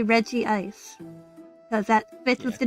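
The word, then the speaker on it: Regice: I have had fights with my siblings because I insist it the only correct way to pronounce it would be Reggie Ice cuz that fits with the naming scheme.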